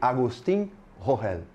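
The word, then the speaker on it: Agustín Rogel: Eu pedi para ele um áudio com a pronúncia. E ele, Agustín Rohel.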